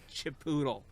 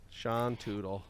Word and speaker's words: Chipotle: Chipotle. Sean Tootle. Yep. Doodle. There's a video. It's just like this account that would just like mispronounce words, but they're like how to pronounce Chipotle, but they wouldn't say it.